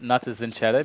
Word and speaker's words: Natus Vincere: No, but I think it's Natus Vincere because that would be how it would be said in Italian.